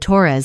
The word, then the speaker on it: Torres: changed the way he said Torres, so it rhymed with doors instead of rolling off the tongue the way our mother said it.